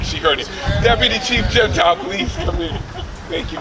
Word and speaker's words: Gentile: award, I said, well, my last name is pronounced Gentile. Mayor looked at me and he goes, stop. No one's ever called you that.